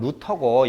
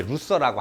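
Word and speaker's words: Luther: 그래서 마틴 루터 그러니까 이제 그 동네는 이제 독어 발음으로 따지면 루터고 영어식 발음은 이제 루서라고 하는 거야.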